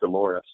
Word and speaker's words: DLRS: I learned recently that it's pronounced Dolores.